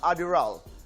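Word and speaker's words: Adderall: Ayon sa Korean media noong 2010 inimbestigahan si Park Bom kaugnay sa paggamit niya ng Adderal. Is that the way you pronounce it, RD?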